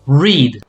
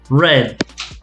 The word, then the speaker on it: read: So this, when you talk about present, the pronunciation is going to be read. When I talk about the past, it's like the color, red. So same pronunciation as the color. Red. Exactly. Past, red. Present, read. Exactly.